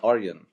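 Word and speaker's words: Arjen: It's Aryan. Aryan. Aryan Robin. You've got to say Aryan it like Robin. Dutch. All these facilities. You have to say Aryan Robin like this.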